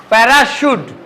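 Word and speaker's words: parachute: শিকাগুো বলতে হইবো ঠিক আছে শিকাগুো শালেট শালেট প্যারাসুট প্যারাসুট শ্যাপ চ্যাপ বললে হইবো না চলে হবে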